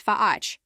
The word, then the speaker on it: Fach: Pronounce it as Fach, with a hard ch as in Bach.